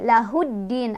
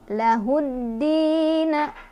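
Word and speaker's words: لَهُ ٱلدِّينَ: Cara bacanya, alif lamnya tidak dibaca, melainkan kita langsung masukkan ke huruf syamsiyahnya yaitu ke dalnya ya. Jadi lahuddin, alif lamnya nggak dibaca.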